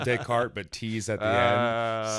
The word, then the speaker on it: Descartes: really powerful episode so it's not pronounced Descartes or Descartes yeah Descartes the way I read